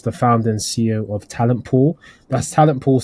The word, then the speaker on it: Talentpoel: He is the founder and CEO of Talentpoel. That's Talentpoel spelled with Poel.